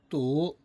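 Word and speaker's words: 毒: 독 아 발음은 뚜 뚜 이성으로 발음이 됩니다.요 독자의 구성은 주인주자 어미 모자입니다.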